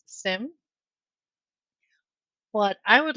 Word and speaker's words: SIEM: I do know that if you Google how do you pronounce SIEM, it says SIM.